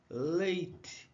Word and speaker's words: lathe: Então, em inglês, torno mecânico, aqui em cima, a pronúncia é lathe, ok?